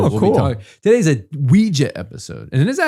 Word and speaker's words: Ouija: So we had talked a little bit about Ouija when we were doing the Annabelle episode.